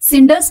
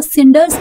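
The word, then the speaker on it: cinders: यहां पर सिंडर्स पढ़ा था इसको क्योंकि सी के जस्ट बाद आई आ रहा है इसलिए हमने इसको के प्रोनाउंस नहीं करा। हमने इसको सिंडर्स प्रोनाउंस किया।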